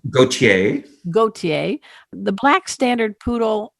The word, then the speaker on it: Gautier: Is that the right pronunciation? Gautier.